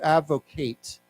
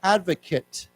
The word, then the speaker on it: advocate: with the this word the last a has a long a sound to advocate but then if you say a person you say he is an advocate that a sound is